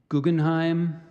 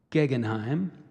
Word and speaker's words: Guggenheim: go five words Guggenheim alternate pronunciations Guggenheim and gegenheim excuse me Guggenheim so Guggenheim Guggenheim Guggenheim